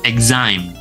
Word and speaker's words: exam: Pelafalannya adalah X di sini berubah menjadi IG. Kemudian ada ae di sini sama seperti tadi artinya I. I I exam exame.